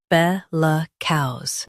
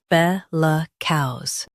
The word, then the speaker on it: bellicose: Today, we will learn how to pronounce the word shown on the screen. Bellicose. Both US and UK have the same pronunciation of this word. Stress buh. Keep luh soft and finish with clear cows. Bellicose.